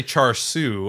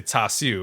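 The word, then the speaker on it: char siu: words i definitely like i don't say char su i say tasu because of the cantonese pronunciation versus the kind of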